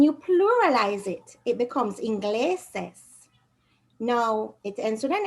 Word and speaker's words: ingleses: The natural stress is on the gle, where that syllable. The actual stress is on the gle, so you don't need an accent mark. Ingleses.